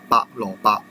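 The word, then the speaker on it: 白蘿蔔: But for the white one, it is pronounced as 蘿蔔, 蘿蔔. Or you may say 白蘿蔔, 白蘿蔔.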